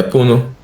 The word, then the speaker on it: Puno: Mas qual, qual que é, qual que é a pronúncia de Puno em espanhol? É Puno mesmo? É Puno.